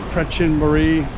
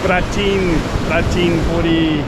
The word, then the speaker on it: Prachinburi: So we're headed to a place, it's pretty well known, but in English it's spelled Prachinburi. But if you want to know, it's not actually Prachinburi, it's Prachinburi. Prachinburi is where we are headed this morning.